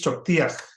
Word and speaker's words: choktiach: The meets choktia, or the H takes practice, but the H at the end is pronounced. It's so what we call a glottal stop. So you say ti meets choktiach. So it's pronounced.